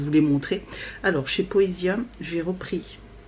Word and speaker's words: Poesia: Voilà, c'est ça, hein, ça se prononce comme ça. Ouais, Poesia.